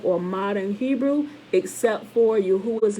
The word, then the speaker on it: Yahuwah: in our latin letters yahuwah yahuwah yahoo y a h u dash a h or y a dash h o o dash a h for proper pronunciation right clement of alexandria